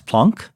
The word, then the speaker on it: Planck: And the problem was semi-solved by Max Planck, whose name I insist on pronouncing in the way he would have pronounced it, even though I don't say Einstein, so I'm not consistent.